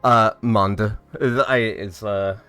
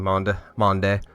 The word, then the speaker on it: Monde: Monda is usual. I switch between Monde.